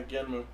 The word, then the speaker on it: Genm: Genum. Genmu. Yeah, Genmu. That's the one I want. It's Genum. It's spelled Genom, but it's pronounced Genmu.